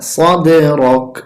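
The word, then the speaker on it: صَدْرَكَ: এখানে দেখুন একটি তীর চিহ্ন আছে, তাই কলকলা করব। সদে র জবর র, কাফ জবর কা, রকা সদে রক।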